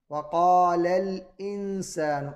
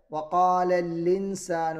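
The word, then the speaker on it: وقال الإنسان: വഖാലല്ലി എന്ന് പറയുമ്പോൾ അവിടെ ഹംസിന് പകരം ലാമിന് ഷെദ് കൊടുത്ത് കസർ കൊടുത്ത് ഓതുന്നു. അത് തെറ്റാണ്. വഖാലൽ ഇൻസാനു എന്നാണ് ഓതേണ്ടത്. അതല്ലാതെ വഖാലല്ലിൻസാനു എന്ന് തെറ്റായ രീതിയിൽ ഓതരുത്.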